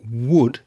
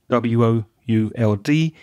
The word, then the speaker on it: would: the pronunciation of wood that w sound it sounded a bit like a g sound to me and i would just